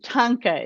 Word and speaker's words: thangka: a a chapter on how to pronounce it like tanka truck you know if you think of tonka trucks you can you'll get it right i always butchered names